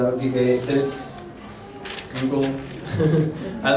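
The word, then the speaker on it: 愛: What is this? Oh, this kanji is the word for love. It's pronounced I and koku, I think.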